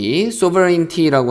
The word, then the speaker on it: sovereignty: state, sovereignty라고 하면은 sovereign 하면은 뭐 통치권 이런 걸 얘기하는 거거든요.